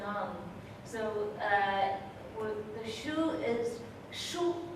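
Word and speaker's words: 书: So the shu is shu. This character is pronounced shu in Mandarin.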